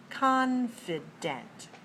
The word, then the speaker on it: confident: is stress in other words tell me the syllable stress code confident confident has three syllables and it's dressed on